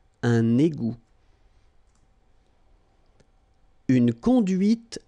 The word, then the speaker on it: égout: Okay, little link between the two. Un égout. Final T not pronounced. Un égout.